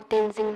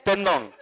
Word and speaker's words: Tendong: No, you got it almost right. You missed it by one syllable. It's Tendong.